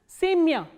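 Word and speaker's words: семя: The same way, sa, ye, ma, ya, and the stress is on ye, not on ya. So, ya is in unstressed. So, what happens is it is pronounced as semya.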